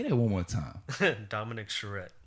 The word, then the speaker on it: Dominick Charrette: last character yeah say that one more time dominic charette dominic charette yeah it's a powerful name it's powerful that's